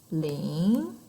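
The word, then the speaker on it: 零: that's our first tone our second tone is tone goes up we have two funny thing is one of them is our smallest number which is lean and one is our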